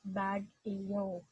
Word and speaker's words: Baguio: in this part and american colonizer pronounce it as bag eo the philippines was granted